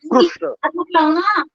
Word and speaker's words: कृष्ण: दक्षिण भारते महाराष्ट्र इत्यादि स्थाने रु एवं उच्चारण भवति, कृष्ण। उत्तर भारते कृष्ण वदन्ति, कहीं पर कृष्ण बोलते हैं, कहीं पर कृष्ण बोलते हैं, तो दोनों ही गलत है। तो ये ऋकार का उच्चारण कुछ ऐसे होता है जैसे बकरी हाँकने वाले हुर्र की आवाज करते हैं ना, जीभ बार बार, वो उच्चारण है ऋकार।